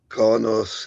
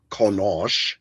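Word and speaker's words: Qo'noS: Yeah, they started that weird pronunciation and discovery where um Konos is Konosh.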